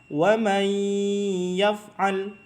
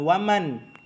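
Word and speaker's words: ومن يفعل: Wa may yaf'al. Nah, nunnya dihilangkan, langsung dimasukkan atau dileburkan ke huruf ya yang di depannya. Wa may, jadinya dibacanya wa may, bukan waman.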